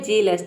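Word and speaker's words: jealous: कि एग्जांपल देखते हैं यहां पे जेलस जेलस में इ ए को हम ए प्रोनाउंस कर रहे हैं यहां पे देखिए जे का हो जाएगा ज और इ ए का हो जाएगा अ अ एल का हो जाएगा ल ओ का होगा अ और ओ यू का यहां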